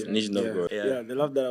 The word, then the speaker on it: Nizhny Novgorod: I was shown in Nizhny Novgorod, I don't know if that's the correct pronunciation. It's correct, Nizhny Novgorod.